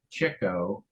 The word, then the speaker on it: Chico: more exciting but um it is pronounced Cho uh by those in the know and you can hear